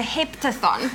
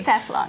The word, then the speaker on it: heptathlon: You know, with regards to, I heard you did a heptathon. Did I pronounce that even correctly? Heptathlon.